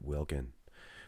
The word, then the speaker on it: Wilkin: i mean the newcomer wilkins brett wilkins hey if you think i mispronounced his name it's brett wilkin but earlier on you